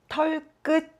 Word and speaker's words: 털끝: Cela se prononce « 털끝 ».